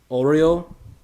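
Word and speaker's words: Oluo: yeah he's new uh and they pronounce it like oreo oreo fancy oreos kind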